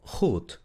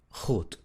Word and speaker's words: goed: La combinación OE se pronuncia exactamente igual a la U del español. U, U, U. ¿Ok? Como en las palabras moed, boek o goed. Moed, boek, goed.